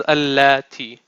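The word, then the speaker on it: التي: And this is not this, how you pronounce this is allati.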